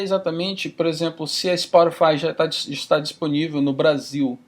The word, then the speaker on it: Spotify: Que eu nem sei se essa é a pronúncia correta em português, mas Spotify. É isso mesmo. Eu estou no Spotify, que a sede principal é aqui em Estocolmo.